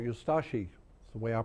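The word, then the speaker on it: Ustaše: We pronounce it Ustashi. We pronounce the U and de-emphasize the Ashi. Ustashi.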